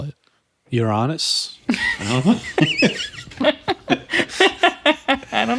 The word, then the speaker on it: Uranus: may also have been pronounced with a flat a to sound like Uranus or something more like the Greek name uranos what do British people call it Uranus I don't know I